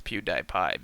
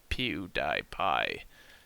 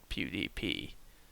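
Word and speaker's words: PewDiePie: sure like PDP or Pew dipi I'm pretty sure it's Pew dipi because p e w d i e p i e is PE dipi not PDP but um oh well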